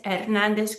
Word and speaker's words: Hernández: So let's look at these names, López, Pérez, Hernández, Gutiérrez. Whenever they end in a Z, they're breaking the rule. López, Pérez, Hernández, Gutiérrez. We're stressing the second to last syllable.